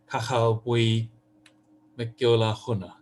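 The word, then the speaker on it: Cathal Buí Mac Giolla Ghunna: the Irish of a poet whose name I'll mispronounce. Bernard can correct me, but I think it goes something like Cachal Bui Mcgiola Huna.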